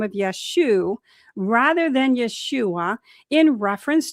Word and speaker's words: Yeshua: we now understand that the form Yeshua likely reflect reflects Galilean dialectical pronunciation from the 1st century CE. In certain northern Aramaic-speaking regions, especially in Galilee, where many of Yeshua's early disciples lived, the final letter ayin was often dropped in common speech.